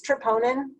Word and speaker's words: troponin: to there are and i think the person in the video pronounces it differently too but it's troponin i did actin research it's troponin all right the power stroke